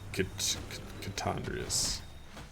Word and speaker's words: Chicondrius: So more like Chicondrius. Pronounced like poisonous at the end.